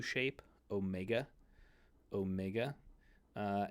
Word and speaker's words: Omega: shape Omega Omega uh and this is the long o so whereas you have the Omicron uh up here the Omicron is this is the short o a sound and the Omega is the long o sound so it's easy to